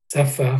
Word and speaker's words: שפה: Tell them, how do you say a language? Safa. Safa. Excellent.